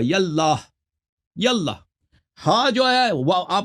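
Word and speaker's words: يا الله: تو یہ جب یا کہیں گے تو اس کے ساتھ یہ الف کے تلفظ نہیں ہوگا، یاللہ.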